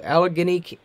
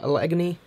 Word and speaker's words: Allegheny: As the tornado crossed into Allegheny County, I think that's how you pronounce it, Allegheny.